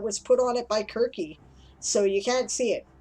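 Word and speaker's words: Κίρκη: put on it by kirky so you can't see it or seriously as some people call her but it's quirky is how it's actually pronounced in greek right so that's an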